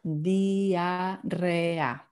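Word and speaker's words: diarrea: So the I is E and the A is A. So that's dia, and then the E is in Spanish is E and the A is A again, because it's always pronounced in the same way. So diarrhea, diarrhea.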